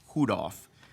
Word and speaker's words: Hudoff: So this is for the confirmation of appointment for James Hudoff, that is actually the correct pronunciation. He says it's just like Rudolph.